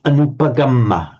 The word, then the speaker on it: anupagamma: Can you just say this anupagamma as well? Anupagamma. Anupagamma. Okay, right. Always remember that the short a, even though it is a short a, you never actually swallow it.